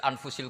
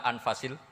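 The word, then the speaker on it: أنفس: ini kadang harokatnya ya di sini ditulis anfussil kutub selalu saya baca anfasil karena maknanya kitab terbaik kalau kitab terbaik bacanya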